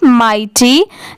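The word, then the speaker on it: mighty: जी ई टी गेट एम आई जी एच टी वाई इसे हम क्या पढ़ेंगे माइटी जैसे एम आई जी एच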